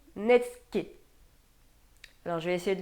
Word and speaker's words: netsuke: parce qu'à mon avis, je suis pas du tout dedans. Bon, on va vérifier. Alors je l'étais pas du tout. On dit netsuke.